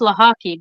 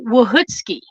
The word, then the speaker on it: Lochocki: It's pronounced Lochocki because when my ancestors came over from Poland, the English speakers here in America didn't know what to do with the line that normally is through the L, so they just took it out. And then they just decided, okay, we're going to pronounce it Lochocki, and that's your new last name.